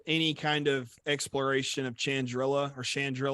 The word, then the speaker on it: Chandrila: kind of exploration of Chandrila or however I guess it depends on if you're British or not, how you say it. Because I know in Andor, Mon Mothma, Sean, whatever. they say Chandrilla at some point.